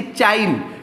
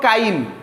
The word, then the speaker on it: chyme: काइम CHYME बही रे लिखा हिची चाइम किंतु accurate pronunciation hub काइम, CHYME हब काइम, बुझिएला ना।